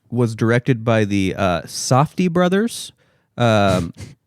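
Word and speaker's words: Safdie: directed by the uh softy Brothers um I believe that's how you pronounce it safy safy sa safy sorry sorry safy Brothers um Josh and Benny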